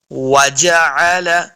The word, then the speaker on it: وجعل: ادا ہوتا ہے۔ وجعل، عین کو بھی تلفظ کے ساتھ پڑھنا ہے، بعض لوگ پڑھتے ہیں وجعل، تو اعلیٰ کریں گے تو یہ حمزہ کا آواز آئے گا، تو حمزہ نہیں بلکہ عین ہے، تو عین کو صحیح تلفظ کے ساتھ ادا کرنا ہے۔ وجعل، وجعل لکم السمع،